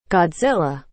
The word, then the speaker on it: Godzilla: E, Mbak Google ini bacanya yang benar apa sih? Godzilla.